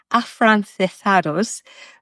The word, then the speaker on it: afrancesados: called people AF sorry I totally mispronounced that afrancesados which is sort of